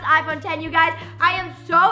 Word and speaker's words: iPhone X: as the iPhone X it is spelled iPhone X pronounced iphone 10 you guys I am